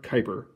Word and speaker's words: Kuiper: Astronomers named the area where these new objects orbited the Kuiper Belt, after the astronomer who first predicted it, Gerard Kuiper. Rhymes with Piper.